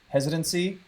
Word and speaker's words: hesitancy: say that like with hesitancy that word it is rhymes with residency heavy heart but but